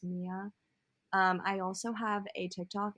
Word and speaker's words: Mya: But anyway, you can find me at Mia _ on Instagram, which my name is spelled MYA, but it is Mia.